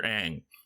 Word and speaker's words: Aang: the season, for Senator Aang. Despite... Is it Aang or Ong? How do they pronounce it in this? Aang. Like the Avatar.